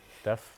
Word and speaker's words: dephh: But yeah, I would say dephh because that is intuitively how I would pronounce it as a British person. But you intuitively. It's like depth, like the depth of a swimming pool, minus the T.